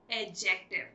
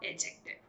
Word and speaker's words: adjective: My dear, I tell you that D here is silent, so you should call it adjective. Yes, it's called adjective.